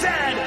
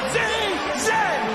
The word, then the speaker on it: Z: And it is pronounced Zed, not Z-Z.